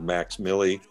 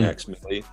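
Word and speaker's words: Mvx Milli: And he goes by the name of Max Milley, and that's spelled M-V-X-M-I-L-L-I. Hmm. Max Milley.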